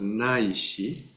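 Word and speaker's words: 乃至: This is pronounced as Naishi. In Heart Sutra, if you are reciting some of those days of the week in Sino-Japanese, there's a word Naishi.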